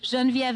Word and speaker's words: Genviev: being european is obviously a little tricky so jean viv is g as in george e as in